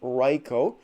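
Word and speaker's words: Raikou: cool looking card and to me it is pronounced riko that's how it was pronounced in the pokemon movie but not one of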